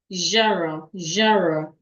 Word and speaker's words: genre: G E N R E is rightly pronounced. Jara.